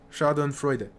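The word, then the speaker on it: Schadenfreude: shardon freuder yeah again I couldn't remember if you pronounce e at the end sha and Freud versus sha and Freud I couldn't remember so you do pronounce e Shon Freud again I had someone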